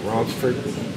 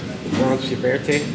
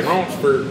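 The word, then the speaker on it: Ronceverte: Yeah, it looks like it's pronounced Ronsiberte. Yeah, but it's Ronsford. I think that's like that's how my mamma would my family's from around that area. Yeah, she'd say Ronsford. No, that's how they say it.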